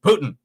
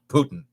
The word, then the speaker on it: poutine: Same thing with poutine. Poutine is either poutine, or if you go further towards Quebec, it becomes Putin. Poutine is the correct pronunciation of poutine, not Putin.